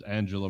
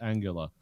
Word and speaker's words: Angela: I remember I always thought it was Angela Merkel, and they said, no, it's actually just pronounced Angela.